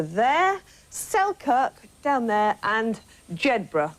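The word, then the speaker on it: Jedburgh: Selkirk down there and jedra which a lot of the tourists pronounce incorrectly but we're going to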